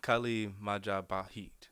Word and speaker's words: Kali Majapahit: martial arts school, and correct me if I'm mispronouncing this, Kali Majapahit? Oh, Kali Majapahit.